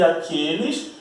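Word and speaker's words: àquele: Aquele e aqueles, aquela e aquelas, e o pronome aquilo. Por exemplo, respondi aquele e-mail. A pronúncia é a mesma, aquele.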